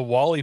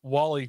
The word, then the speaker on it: Wally: by built right industries it's spelled like molly but with a w i'm assuming it's for